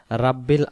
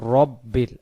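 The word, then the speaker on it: ربِّ: যেমন এখানে লক্ষ্য করুন আমরা অনেকে পড়ি রাব্বিল আলামিন যদি রাব্বিল আলামিন পড়ি এখানে যে র অক্ষরটা আছে এই র অক্ষরের উচ্চারণটা কি ভুল হয়ে যায় তো আমরা র অক্ষরের উচ্চারণটা করব রব্বিল রাব্বিল আমরা বলবো না যেমন আমরা অনেকে বলি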